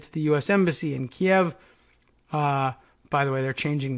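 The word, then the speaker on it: Kyiv: AP switching over from kie v 2k y IV I guess trying to encourage a better pronunciation of Kiev rather than Kiev anyway going back to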